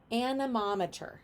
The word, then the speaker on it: anemometer: Anemometer. Everyone say anemometer. Anemometer. Or some people may pronounce it anemometer. Anemometer? I think it's anemometer.